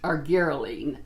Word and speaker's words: Argireline: the brand of, and it's pronounced argireline. I do know that. I've been mispronouncing it all this time.